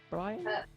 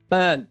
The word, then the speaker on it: Byrne: How do you say your second name? Brian? Byrne. Byrne, that's it.